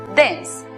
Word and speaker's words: dense: tiempo es saber que la E al final de las palabras es muda, como ocurre en la palabra vida, que se pronuncia life, o en la palabra denso, que se pronuncia dense.